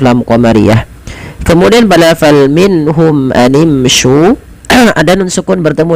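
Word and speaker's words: مِنْهُمْ: Cara membacanya itu diperjelas suara nunnya minhum dan tidak boleh pernahan minhum, tapi jelas saja.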